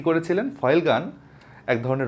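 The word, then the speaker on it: Feulgen: আমরা 1914 সালের একটা ঘটনা দেখছি 1914 সালে ফয়েল গান নামের একজন বিজ্ঞানী এই উচ্চারণটা কিন্তু ফয়েল গান ফয়েল গান বইয়ে এই উচ্চারণটা অনেক জায়গায় ফুলাজিন লিখা আছে এরা কিভাবে যে লিখছে আমি জানিনা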